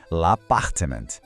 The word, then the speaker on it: appartement: L'appartement. Mais uma vez, l'appartement. E aqui vai uma dica de ouro. Esse T no final é mudo. A gente não pronuncia.